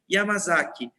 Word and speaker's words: Yamasaki: Escreve Yamasaki, pronuncia Yamazaki.